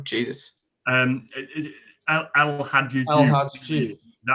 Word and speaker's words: El Hadji: El Hadji.